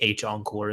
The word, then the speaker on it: h-encore: I think you're right I just hate not saying hen when I know that's what part of you would just use use it interchangeably but no to pronounce that I would say H encore is the proper way cool yeah I got